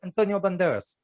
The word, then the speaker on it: Antonio Banderas: That's how you have to say his name. You have to say Antonio Banderas.